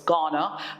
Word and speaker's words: Ghana: remember city is from ghana it's from ghana ghana okay it's pronounced ghana ghana so it's from ghana and the h is kind of silent so it's ghana so it's gaddien so